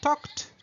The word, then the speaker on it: talk: Or, I talked to everybody. I talked to everybody. Donc, retenez ici que la prononciation de talk, on ne prononce pas le L.